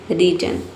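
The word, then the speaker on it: reason: रीजन।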